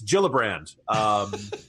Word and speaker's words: Gillibrand: it's like it's like the people who miss pronounced jiff its Gillibrand this interesting sense if you look at her